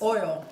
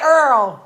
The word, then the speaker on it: oil: messing with the kitchen in New Orleans we have a way of saying the word oil mom - um how you say oil sometimes oil no that's not how you say it you say Earl or Oh mommy that